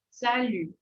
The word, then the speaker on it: salut: e sonzinho de i i y y sal Salu né então vocês faz esse sonzinho ele é